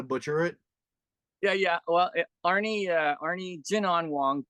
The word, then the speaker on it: Jin An: Well, Arne Jinan Wong. Jinan is my Chinese name, and in the Chinese culture, we start with the last name first. It's like Wong Jinan. That's how it's pronounced.